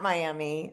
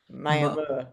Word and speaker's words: Miami: I know your hometown is spelled Miami, and I always know it's not Miami. It's not pronounced Miami. That muh at the end. Muh, Muh. Miami.